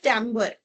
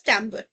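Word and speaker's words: timbre: And this phenomena is known as tambber. Right? So it is not pronounced as timber, it is pronounced as tambber.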